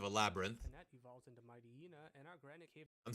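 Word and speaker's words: Mightyena: Panette evolves into Mighty-Ina, and our Granite Cave... I'm sorry, say that again? Mighty-Ina? Mighty-Anna. Actually, it's pronounced Mighty-Anna. Get your facts straight.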